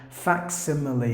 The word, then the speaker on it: facsimile: upon the word but in this word the C gives the K sound so you have to include the sound so you have to pronounce it like facsimile the definition of the